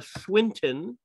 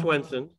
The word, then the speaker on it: Swinton: I will not accept Swenson because it's Tilda Swinton. Yep. Not Swenson.